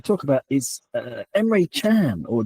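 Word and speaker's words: Can: I don't speak any Turkish Chun. Oh, yeah. Emir Chun. Yeah, even though there's no U. Yeah, even though there's no U in it.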